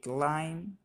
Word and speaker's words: climb: They climb tall tree. এখানে beta silent.